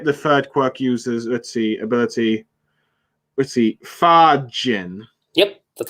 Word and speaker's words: Fajin: Fajin. Yep, that's how you say it. It's Fajin.